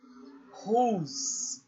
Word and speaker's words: whose: Whose, sem a pronúncia do E no final.